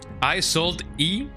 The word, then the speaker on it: Isolde: I sold E. I don't like that woman. Woman in my right eye. Isolde is how you pronounce it.